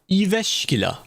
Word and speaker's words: Jyväskylä: Jyväskylä. Apparently that's how it's pronounced.